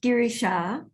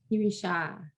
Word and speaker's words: Girishaa: Okay, so it's pronounced Girishaa. Girishaa.